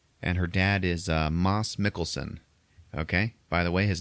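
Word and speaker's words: Mads Mikkelsen: to her home and her dad is uh Moss Mickelson okay by the way his name is pronounced Moss Mickelson really yep turns out it's disappointing I know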